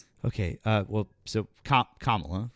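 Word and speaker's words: Kamala: It's I could not vote for Camala. She was full of platitudes and didn't offer anything for us. Okay. Uh well, so Kamla, right?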